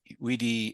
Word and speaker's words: vidi: Classic Latin actually pronounced its V's as W's, our best guess is, which means that Caesar would have found it weenie, weedy, and witchy.